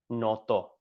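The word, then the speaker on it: નહોતો: It's pronounced not like N-O-T-O, noto. Oops. Pronounced N-O-T-O, but it's actually spelled, if you write it in Gujarati, it's like na hot, like na, how do you say that? Like na hoto, I guess, but pronounced noto.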